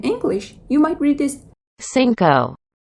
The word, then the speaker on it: cinco: In English, you might read this cinco, cinco, but native Spanish says cinco, cinco. Can you hear the differences?